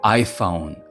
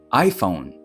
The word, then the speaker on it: iPhone: iPhone. iPhone. Що тут? Наголос на перший склад.